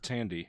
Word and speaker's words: Thandie: I'm going with Thandie? I'm going with Thandie Newton. I was hoping you would. She was really fucking good. She was Pretty really sure good. it's pronounced Tandy.